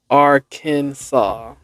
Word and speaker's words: Arkansas: Arkansas Historical Society declared the correct pronunciation of Arkansas as Arkansas. The divergent pronunciations of Arkansas and Kansas stem from French renderings of similar tribal names, with Arkansas maintaining the French pronunciation.